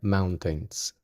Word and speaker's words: mountains: Hay un diptongo con la O y la U y con la A y la I.